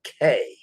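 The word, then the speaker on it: cay: down there again tomorrow tomorrow we're in coco k interestingly enough the c-a-y for most bahamian islands is key it's pronounced key but coco k is pronounced k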